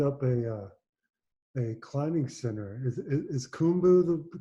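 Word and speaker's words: Khumbu: Is Kumbu the correct Yep. The pronunciation? Kumbu.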